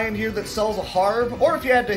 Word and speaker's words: Harb: guys gives you a harb so you can harb up. I'm not mispronouncing harb. That's how they spell it. H-A-R-B. It's not a herb because there's an H in it.